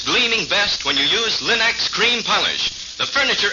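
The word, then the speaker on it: Linx: store remember to ask for them by name Linux it's spelled l i n-x Linux ask for it now now let's hear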